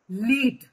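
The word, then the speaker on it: lead: का pronunciation different है ये जो वर्ड है ये स्पेलिंग जो है इसको हम प्रोनाउंस करेंगे लीड ठीक है लीड का मतलब होता है गाइडेंस देना या गाइड करना ठीक और दूसरा जो ये स्पेलिंग है एल ई एडी इसको हम क्या बोलेंगे इसको कैसे प्रोनाउंस करेंगे इसको प्रोनाउंस करेंगे लेड लेड का मतलब होता है मेटल तो यहां पे फिर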